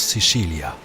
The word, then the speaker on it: Sicilia: En italien, on prononce Sicilia.